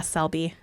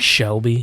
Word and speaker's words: Selby: Yeah, Selby. It's not like Shelby. It is not. You take out the H, so it's Selby.